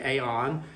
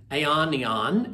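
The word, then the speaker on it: αἰών: o n and I'm not sure exactly the best pronunciation of it but uh my Greek pronunciation sometimes is not very good but i' say Aon which means the age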